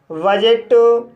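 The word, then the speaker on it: budget: इसी तरह से बजट, लेज़र, कजल, गैजेट। तो गाइस इन सभी वर्ड्स में भी डी के बाद जी ई आया है, इसलिए डी साइलेंट है।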